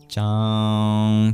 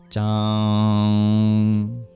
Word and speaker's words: Cāṅg: So it's like CH but less breathy. Sanskrit tends to be less breathy than our regular English variants. Chang. Try to do it with as least air as possible. Chang.